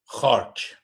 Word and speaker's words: Kharg: How do you pronounce it in Persian, by the way? Khark. Kharg. I said that and then and then you know, regular people were like Kharg. I'm like okay, Kharg. So I thought Kharg jet.